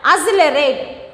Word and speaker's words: accelerate: Okay, next one, accelerate. Accelerate. So, we are pronouncing as double.